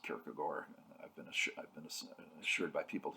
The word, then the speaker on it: Kierkegaard: Soren Kierkegaard, who, yes, it's spelled like Kierkegaard, but it's pronounced Kierkegaard.